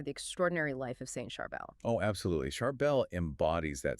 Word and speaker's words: Charbel: Yes, it's Charbel. The accent on the A in Syriac.